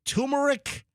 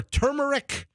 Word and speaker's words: turmeric: All right, I have two pronunciations. Yeah, I think both might be acceptable. So I've heard turmeric or turmeric and turmeric.